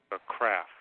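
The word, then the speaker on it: CWRAF: weakness risk analysis framework craft yeah silent w okay because I didn't know how to pronounce it with a w I should just call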